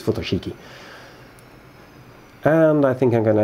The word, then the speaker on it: Futoshiki: photo cheeky but I don't know you pronounce it I think it's photo cheeky and I think I'm